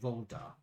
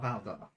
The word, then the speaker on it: Voldar: Voldar. Oh. He's not Valdar. But Voldar.